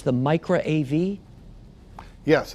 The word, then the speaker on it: Micra: think if I'm saying it correctly it's the Micra AV yes it's the micro AV device and I'm actually proud to announce